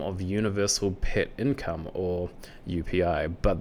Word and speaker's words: UPI: And they also say rewards come in the form of universal pet income, or UPI, but they pronounce it as UP according to their website.